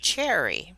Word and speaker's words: Cheri: It's interesting that you spell it as Sherry, but it is pronounced Cheri.